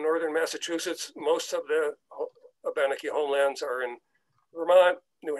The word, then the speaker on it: Abenaki: By the way, the Abenaki, and I use the Abenaki pronunciation, that is their pronunciation. You may be familiar with the term as Abenaki.